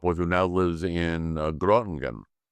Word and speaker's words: Groningen: who now lives in Groningen. Groningen? And Groningen, yeah. I can't speak Dutch. The hard G.